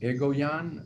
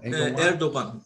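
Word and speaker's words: Erdoğan: think it's pretty clear that, how do you pronounce his name? Egoyan? Erdogan.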